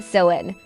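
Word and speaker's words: Samhain: They celebrated a festival called sewing pronounced sen which marked the end of summer and the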